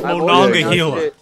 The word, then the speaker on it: Monongahela: I was about to say Monongahela. I've always said Monongahela. I always pronounce this Monongahela. It's Monongahela. I've always said the Mahongadonga.